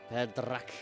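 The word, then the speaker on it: Feendrache: Interesting how they pronounce Fedrach. It was cool how she said it. She almost like rolled the R's a little bit. Fedrach.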